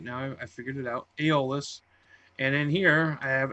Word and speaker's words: Aeolus: That's how you pronounce it now. I figured it out. Aeolus.